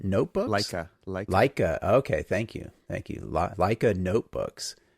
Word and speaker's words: Leica: suggestion was for and I'm not sure I'll pronounce this correctly either, but what is it, the Lakia notebooks? Leica.